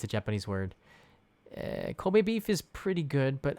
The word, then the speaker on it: Kobe: It's pronounced Kobe, by the way, just like the blur in your camera is pronounced bokeh, which is the Japanese word.